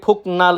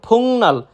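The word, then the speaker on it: 복날: বারান্দা এরপর রয়েছে ফুংনাল ফুংনাল আমরা যদি কেউ উচ্চারণ করি ফুকনাল সেটা সম্পূর্ণরূপে ভুল সঠিক উচ্চারণ ফুংনাল মানে সবচাইতে গরম দিন বা সবচেয়ে গরম দিন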